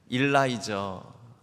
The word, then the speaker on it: 일라이저: 우리 709구역 알렉스 정세경 성도님의 가정에서 6월 17일에 태어난 일라이저 아들입니다. 이름이 이상하네요. 그러는데요, 이리성이고 라이저가 이름이 아니고요. 아버지가 우리 외국인이어서 미국인이어서 이름이 그렇습니다. 우리 일라이저는 그 영어식 발음이고요. 우리 성경상 이름인데요, 엘리야입니다.